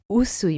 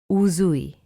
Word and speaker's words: Usui: It's Usui, Mikao Usui, and not Mikao Uzui. So that's the second common mistake, the pronunciation of the letter S followed by a vowel.